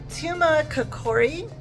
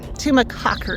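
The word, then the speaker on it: Tumacácori: one more National Park so we are at Tuma kakori I'm sure I'm pronouncing that wrong we learned how to actually pronounce the name of this place what is it tumac tumac Cocker yes the Rangers said it earlier and it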